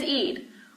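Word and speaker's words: عيد: It is Eid, which you have to say from your throat.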